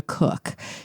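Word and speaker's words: Koch: And so a mission specialist, and it's pronounced Cook, Christina Cook, she noted the issue.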